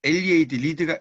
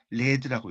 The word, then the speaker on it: lead: 그다음에 리드가 이끌다라고 할 때는 장음으로 읽혀요. 그리고 절하다 할 때는 바우 이렇게 읽힙니다. 장음으로 익히고요. 이게 LEAD가 납이라고 이제 쓸 때가 있어요. 이때는 납이라고 할 때는 레드라고 읽혀요.